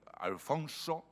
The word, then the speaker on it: Alfons: tienes el campeador señor alfonso y alfons que es como suponemos que se pronunciaba el castellano de la época de cantar si rima sin a